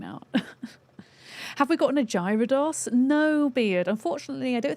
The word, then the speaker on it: Gyarados: It's with a hard G, Gyarados?